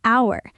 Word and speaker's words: hour: An hour. The H is silent.